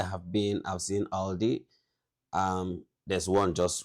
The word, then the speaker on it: Aldi: In English, people usually pronounce this Aldi. I think I've also heard Aldi before, but yeah, Aldi.